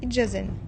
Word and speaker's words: Idjazen: Dje, Idjazen, les joues. Attention, le D devant le J n'est presque jamais marqué à l'écrit.